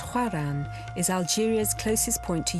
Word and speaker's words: Oran: along the a1 highway iran pronounced huaran is algeria's closest point